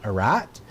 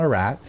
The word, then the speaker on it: Ararat: mountain range located in present-day Turkey, known as Mount Ararat.